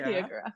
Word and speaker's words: Tiyyagura: Am I pronouncing that last name? Tiyyagura. Yeah, Tiyyagura.